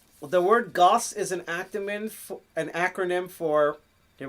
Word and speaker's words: GOST: And we're going to just pronounce it GOST.